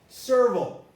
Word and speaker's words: serval: of the stress tuna serval well if you have vol here the times it's pronounced vile has variations this word is serval the l is there the l is very constant pay attention to the